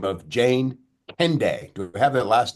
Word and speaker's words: Kendeigh: Okay, So Jane Candy Jane is Candy. actually how we pronounce it.